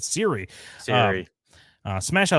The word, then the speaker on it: Ciri: moment here with uh Cersei I say Cersei all the time why am I saying that Siri sorry uh smash that